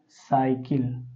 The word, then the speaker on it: cycle: जैसे यहाँ हो गया CYCLE, इसका उच्चारण पढ़ेंगे बच्चों तो क्या हो जाएगा, साइकिल।